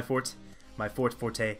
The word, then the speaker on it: forte: And in terms of basketball NBA knowledge, not really my forte. I know it's actually pronounced fort, but I'm gonna say forte because that sounds better.